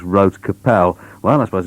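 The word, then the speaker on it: Rote Kapelle: and told me that I'd mispronounced their name, which appears to be Rota Capella, but they said no, it's not like that at all, it's just Rote Capel.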